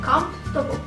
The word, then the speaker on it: comfortable: Okay, so people often mispronounce it as comfortable or comfortable. Oke, jadi yang benar itu sebenarnya comfortable. Huruf O setelah huruf F nggak usah kalian baca lagi sama seperti yang kata sebelumnya.